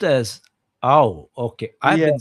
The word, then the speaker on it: Ao: Oh, it's pronounced as ow.